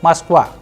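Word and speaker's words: Москва: from russian language we will see how to pronounce them and their meaning so we have maskwa maskwa it is the capital of russia also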